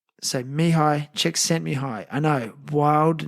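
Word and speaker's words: Csikszentmihalyi: how it's spelled, but this is how it's pronounced. His first name is Mihi Czech and surname is Czech sent Mihi. So, Mihi Czech sent me high.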